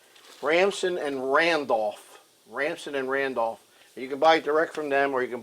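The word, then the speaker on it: Ransom & Randolph: And uh I I I've said this before and I've always said the name wrong. It's Ramson and Randolph. Ramson and Randolph.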